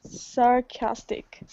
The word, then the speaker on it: sarcastic: Sarcastic. Perfect. Absolutely perfect. The little apostrophe is in front of the K, and that shows you that that syllable is the stress.